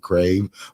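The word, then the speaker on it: Crayv: itself because it's not SP crave but you pronounce it crave but it's c r a y v um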